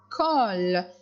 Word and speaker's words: colle: La colle. La colle. Le C devant le O se prononce co.